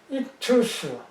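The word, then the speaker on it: ΙΧΘΥΣ: 그 다음에 이것이 CH, X는 CH고 요거는 TH고 요거는 US로 그냥 하면 익투스, 요거는 익투스 이렇게 발음할 수가 있어요.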